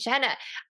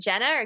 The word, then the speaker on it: Genna: All right, so with me today, I have Genna. I didn't even ask you how to pronounce your name. Is it Genna or Genna? No, Jenna, you said it right the first way, so that was very intuitive of you.